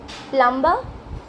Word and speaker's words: plumber: Words you mispronounce, part 2. Number 1. Wednesday. Wednesday. Number 2. Plumber.